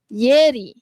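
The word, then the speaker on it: ieri: Okey, semalam kita sebut yeri okey. Bunyi I dengan E tu adalah ye.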